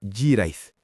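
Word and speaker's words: hiraeth: En Galés, la lengua celta que se habla en el sur de Gran Bretaña, eso se llama Jirait. Se pronuncia aproximadamente Jirait.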